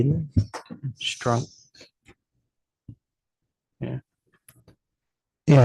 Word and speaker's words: Strunk: Strunk. Yeah, it's STRUNK, not SK. It's not Scrunk, it's Strunk.